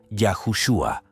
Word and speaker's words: Yahushua: ortografía como la pronunciación originalmente el nombre de Jesús se pronunciaba yahushua hay bastantes teorías por